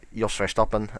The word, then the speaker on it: Jos Verstappen: Jos Verstappen, pronounced in Dutch, but I'll pronounce it in English as best as I can.